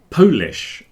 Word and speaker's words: Polish: some phrasal verbs let let's look at the pronunciation problems that have appeared this week so the first one was Polish people from Poland are polish yeah not the